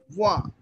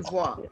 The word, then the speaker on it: voit: voit. Because N and T would be silent and E sound is A. Il voit.